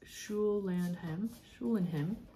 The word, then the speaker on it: Schulenheim: note on the methodology schulenheim pronounced Shoe Land him schulenheim I think I said it correctly the first time it combines elements of